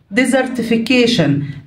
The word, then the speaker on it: desertification: desertification desertification desert صحراء. اوكي وهنا والتي اي او ان تدينا الساوند شن تبقى desertification التصحر اللي هو إزالة الأشجار في منطقة كبيرة وتحويلها لصحراء.